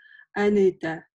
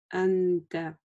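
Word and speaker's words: أنت: Нельзя, например, прочитать анэта. Да, то есть это будет неправильно. Плавно заканчиваем. Ан. Ан. Анта.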